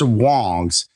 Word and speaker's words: Wangs: Well, as it turns out, it's pronounced Wangs, and it's the surname of the family who builds these amps.